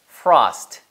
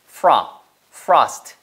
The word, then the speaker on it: frost: 사이에 있는 단어예요 따라해보세요 frost 이거는 로우가 아니고요 FR 입술이 한 번만 움직입니다 아 전에 나왔던 단어들은 전부 다 오우 움직였지만 얘는 frost FR 으 추워 설이란